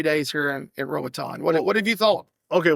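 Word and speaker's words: Roatán: Roatan. What's been... Ratitan? That's what I'm still here. I'm still here for pronunciation and spelling. Roatan. Roatan. The I can't roll my R.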